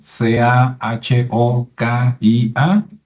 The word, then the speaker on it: Cahokia: cahokia qué es cahokia que se escribe kokia verdad c a h o k i a pero en Estados Unidos es cahokia y es un lugar